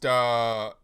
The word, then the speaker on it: Wagyu: You pronounce it as two syllables, the WA and then the GYU. And the GYU is a very abnormal construct in terms of a full syllable of its own in the language.